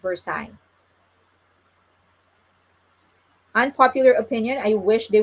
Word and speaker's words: Versailles: Oh, they said it's pronounced Versailles.